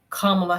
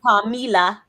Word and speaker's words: Kamala: Kamala Harris, whatever. Not Kamila.